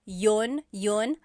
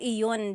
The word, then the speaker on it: yun: You might hear people say, ginawa ko iyon dahil mahal kita, but usually the letter I sound is dropped.